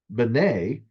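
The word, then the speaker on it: בני: And in this case, it's not just Ben or Ben, it is the plural. So it's Bene.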